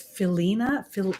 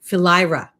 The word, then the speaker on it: Philyra: He was born of Saturn, Kronos, and I think you say it's Philina. Let me see. How do you say her name? Philyra.